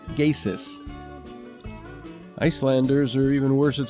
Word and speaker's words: Geysir: The name comes from an Icelandic word meaning something like that which gushes, spelled Geysir, but pronounced Geysis.